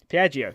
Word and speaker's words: Piaggio: Piaggio.